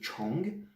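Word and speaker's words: 虫: Mais au niveau de la prononciation, chung de chungwo de milieu, et là c'est chong, chong, presque la même prononciation, pas la même histoire au niveau du caractère, mais c'est l'insecte.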